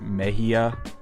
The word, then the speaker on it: Mexia: So, apparently it's not pronounced Mexia, it's pronounced Meia.